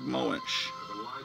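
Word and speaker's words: Moench: oh i'm completely wrong it's not mike plute it's john bushema's art conceived and written by doug moensch mitch then never pronounced the name of my wife m-o-e-n-c-h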